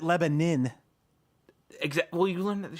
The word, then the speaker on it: Lebanon: That The locals pronounce it Lebanon.